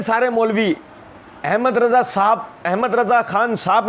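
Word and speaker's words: احمد رضا: मिर्ज़ा जी ने पार्ट 1 के अंदर एक जगह ये बात कही थी, ये अक्सर कहते हैं सारे मौलवी, अहमद रज़ा खान साहब ने लिखा है, ये सारे बरेलवी देवबंदी अहले हदीस शिया चारों ये गलत प्रोनाउंसिएशन करते हैं।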